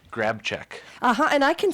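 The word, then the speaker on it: Grabczyk: name yeah mm what is your last name grab check uhhuh and I can spell that you can G r a b c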